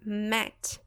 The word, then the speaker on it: met: a pronúncia ficar MIT mas quando ele tá no passado ele é o verbo irregular então ele vai ficar mete só com um e Ok corre Mate e a pronúncia também muda Tá Ok só remate